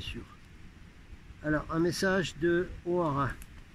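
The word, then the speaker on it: Hoara: Alors un message de O'Hara. Non, c'est pas un Irlandais, j'ai déjà dit, c'est un frère de l'espace qui communiquait avec Guinness Sargusa et qui s'écrit H-O-A-R-A. H-O-A-R-A. Allons-y avec O'Hara.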